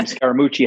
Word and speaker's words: Scaramucci: of time right right my last name scaramucci has 10 letters in it in four syllables but it really means